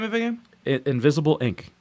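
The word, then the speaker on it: Invisible, Inc.: of the game it invisible inc invisible i n c invisiblink i want to take it not spelled like regular like i and k inc it's really cool i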